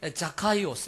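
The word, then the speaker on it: Ζακχαῖος: 부자라 돈이 많은 부자라 삭개오는 발음을 할 때 자카이오스 이렇게 발음합니다 이스라엘은 자카하여 라고 하는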